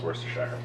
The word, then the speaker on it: Worcestershire: It is pronounced Worcestershire.